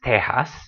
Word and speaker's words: Tejas: same way for Tejas you can spell it either way I've seen Tejas spelled with a Jota much more often but either way it's pronounced Tejas that's pretty exceptional in